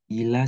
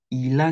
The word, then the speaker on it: il a: Il a 5 ans. Dia laki-laki berusia 5 tahun. Ini disambung ya. Ila. Bukan il dan a. Ila.